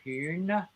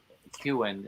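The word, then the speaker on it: Kuehn: Kuhn. I'm pronouncing it with an umlaut, which nobody in America does, but Kuhn is what we would say in the U.S.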